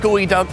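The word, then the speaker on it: geoduck: wanted to know about gooey duck except for why it's pronounced gooey and not geo that we'll have to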